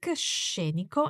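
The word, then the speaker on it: scenico: landscape is very Scenic sheniko and watch the sound of this adjective with the emphasis on the first syllable shape and it doesn't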